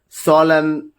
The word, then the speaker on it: solemn: If you just look at column, dam, solemn, autumn, in all these cases, N is not pronounced.